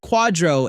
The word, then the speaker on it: QDRO: The QDRO is pronounced quadro and it costs $74,000 to not know that.